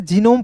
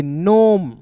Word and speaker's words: gnome: जैसे दोस्तों यहाँ पे GNOME, तो बहुत लोग इसे जीनोम पढ़ लिए हैं दोस्तों, गलतियां यहीं पे कर रहे हैं आप। जी को साइलेंट कीजिएगा, NOME को क्या पढ़ेंगे, नोम।